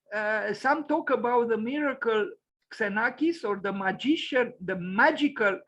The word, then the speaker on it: Xenakis: So let's read Iannis Xenakis, also spelled with a Y, pronounced, yes, Iannis Xenakis, as you see, born the May 29th, 1922, and died on the 4th of February, 2001.